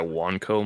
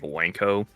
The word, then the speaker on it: Wanco: Uh, because they thought it was wanker cuz they thought it was like you pronounced like Wanko. I was like, um, is that a problem? It's like, no, it's Wanco because of the W one.